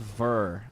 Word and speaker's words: Bex: Okay, so Bex is pronounced Ver. All right, I'll try to do it. I'll try to do the pronunciation. Okay, Ver with an H.